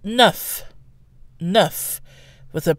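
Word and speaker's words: neuf: by a consonant but the F sound becomes a V before a vowel and then finally we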